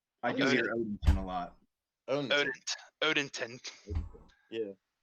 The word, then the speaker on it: Odenton: and Odenton. Yeah, It's I not say Odington. I say Odenton. I don't even say Odenton? the D. Odenton. I do hear Odinton a lot.